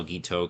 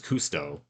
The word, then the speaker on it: Guiteau: is Charles Guiteau, but they keep getting his name wrong. They think his name is Cousteau.